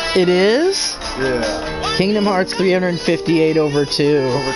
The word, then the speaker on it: 358/2: Oh, everyone's saying it's pronounced 358 over 2. It is? Yeah. Kingdom Hearts 358 over 2.